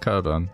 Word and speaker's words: Cockburn: out uh it's kind of spelled cockburn but pronounced carbon that would suck if you had that as